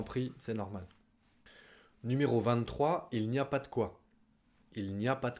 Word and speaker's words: il n'y a pas de quoi: Il n'y a pas de quoi. Notez qu'on le prononce il n'y a pas de quoi.